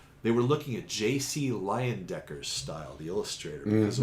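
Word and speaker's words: Leyendecker: were trying to they were looking at jc liondecker's style the illustrator because it was very wood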